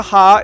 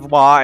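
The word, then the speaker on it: は: I know it looks like a ha. It's pronounced wa, and I'll come to that later.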